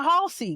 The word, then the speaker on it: Halsey: It's not Hazley? Yeah, no. Halsey? The L is before the S, best friend.